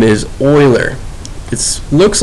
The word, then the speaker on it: Euler: this guy's name is Euler it looks like you'll urban it's pronounced Euler think of him is going to look like a guy that would search for oil I don't know maybe